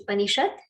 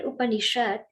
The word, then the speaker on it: Upanishad: And this word Upanishad is divided into 3 syllables. Upa, Ni, and Sad. So Upa and that Sad becomes Shat.